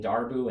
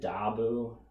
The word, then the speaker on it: Darboux: darbu and dabu so it's kind of like you do something weird with the r that i you know